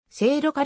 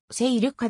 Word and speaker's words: 聖路加: ていることから聖路加の発音が聖路加でなく勢力下であることがわかるなお